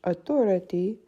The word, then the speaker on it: autorité: In English, the stress is on the THO in the middle of the word, whereas in French, autorité, the E at the end of the word is where the stress is.